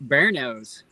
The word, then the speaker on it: Bearno's: pizza if you're ever through kentucky check out bearno's fairness okay really good pizza spell that spell that like like bear and then